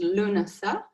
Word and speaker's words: Lughnasadh: in a more balanced approach okay so again luna um firstly in terms of where it gets its name it's the irish word uh for pronounced luna uh it's the irish word for the month